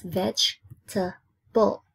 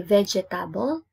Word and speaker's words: vegetable: one syllable vegetable vegetable it's veg to pull you don't say vegetable it's wrong you say vegetables so three syllables fruit fruit so it's